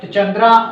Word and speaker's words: चंद्र: वो अक्षर कंप्लीट है तो ईश्वर चंद्र चंद्रा ना पढ़ के हम चंद्र ही पढ़ेंगे ईश्वर चंद्र विद्यासागर थे